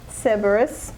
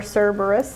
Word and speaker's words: Cerberus: yeah good okay so this is the seberus or Cerberus I mean they're bursting over you're saying it right awkward Cerberus tink it honestly looks